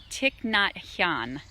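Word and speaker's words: Thich Nhat Hanh: pronouncing this guy's name I think it's tick not yawn tick not yawn I think and what I love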